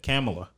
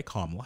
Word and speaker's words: Kamala: kamala no he said she said kamilah how did she say it she said it wrong either way and then kamala fixed her when she said it she was like say this all right camila harris and she was like i kamala harris okay you know so